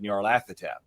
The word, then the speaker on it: Narathap: So, yeah, we had gone we had thought about different pronunciations for that, but I had always like when I was writing Journey Three of Sorrows and everything else, we'd always said Narathap.